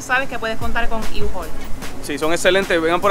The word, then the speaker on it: U-Haul: Oye, ya estamos aquí, miren, así es que se pronuncia el nombre. U-Haul.